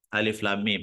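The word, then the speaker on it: الم: muqat itu ya terputus-putus cara membacanya itu dibaca nama hurufnya hurufnya Alif Lam Mim gitu ya yang kedua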